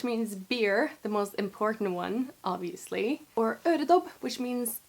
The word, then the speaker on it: Å: circle above it and it's pronounced o kind of like pronouncing the English o but with a bit more o I can only imagine